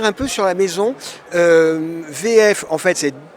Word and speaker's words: WE-EF: on va revenir un peu sur la maison vf en fait c'est w e tir fff et nous dit on le prononce allemande cvf donc vous appartenez à une